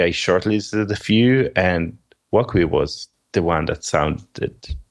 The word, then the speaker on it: Wokwi: Okay, but we have asked you here to talk about Wokwi. Is that how you say it? You pronounce it right.